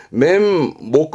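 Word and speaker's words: 面目: 만한 부분이 있죠 그렇습니다 면목이요 발음은 맨보다 매목 하기도 하지만 보통은 맨 복입니다 그래서 면목이 없네 멘보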